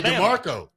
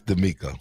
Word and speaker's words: DeMeco: We say DeMarco. How you nobody says DeMeco. How do you spell it? Spell it. DMMECO. It's DeMeco. Yeah. But for the South people, we say DeMarco.